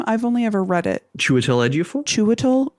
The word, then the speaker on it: Chiwetel: Chiwetel Ejiofor? Chiwetel.